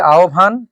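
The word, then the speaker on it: আহ্বান: এরকম করে লিখছি যে আহবান দর্শক শ্রোতা আমরা উচ্চারণ করেছি আহভান এবং লিখেছি আহভান।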